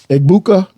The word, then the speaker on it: Egbuka: you double him they got a Mecca Iuka ibuka how do you say it e egbuka they got uh junkins and Henderson it it's